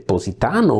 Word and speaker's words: Positano: I am saying these names for two reasons. First, this is the actual Italian pronunciation, so it is nice for me. I'm really happy to say your names like Avellino, Ariano, Irpino. This is the exact Italian pronunciation.